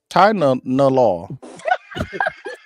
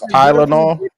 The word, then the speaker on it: Tylenol: Say it with me. Ty. Ty no law. That's how you say it, right?